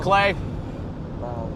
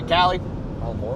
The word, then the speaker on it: Callie: Doing good, Clay. Or Callie, not Clay, Callie.